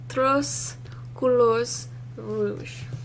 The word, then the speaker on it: Trois Couleurs Rouge: Or Trois Couleurs Rouge.